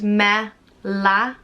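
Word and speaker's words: Mealla: work for this video it's pronounced me la mela and it's traditionally spelled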